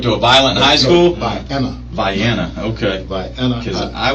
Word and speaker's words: Vienna: Yeah, Viana High. Oh, what is it? How you spell it? VIENNA. See, I thought you said violent high, like you went to a violent high school. Vienna.